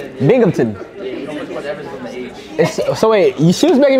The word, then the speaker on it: Binghamton: Don't pronounce the A. It's the Binghamton.